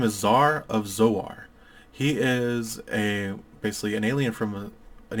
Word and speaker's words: Zoar: are born in a realm known as Zoar pronounced Zoar it's just to be clear it's written down